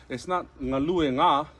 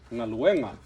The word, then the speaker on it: galuega: So the emphasis is changed from galue, and then you add the nga to it. It's not galue nga, right? It's galuega. So the emphasis changes to the second to the last syllable.